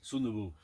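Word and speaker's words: 순두부: Sundubu.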